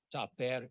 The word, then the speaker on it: tapair: Tapair is the indigenous word for cultural forest. So T-A-P-A-I-R would be the pronunciation, tapair.